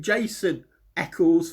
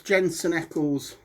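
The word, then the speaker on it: Jensen Ackles: know if you I've been saying Jason echles for the past 18 episodes and no one's actually pulled me up on it but it's Jensen Eckles and I'm probably spent um mispronouncing the second name wrong anyway but anyway then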